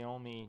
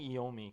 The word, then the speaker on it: Iommi: you know, have Tony Iommi, you know, sorry, I'm saying Iommi because I'm Italian, so most people say Iommi, Tony Iommi, but I don't know, more accurately, I think it's pronounced Iommi.